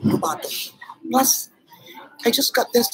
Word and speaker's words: Robato: It's the way Japanese pronounce my name, Robato.